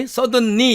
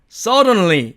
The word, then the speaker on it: suddenly: 이걸 갖다가 우리 suddenly 이렇게 발음하면 안 됩니다. 영어에서는 우리 한국어처럼 자음 접변을 시키지 않습니다. 그래서 suddenly처럼 발음하면 안 되고 suddenly 이런 식으로 정확하게 발음을 해야 됩니다.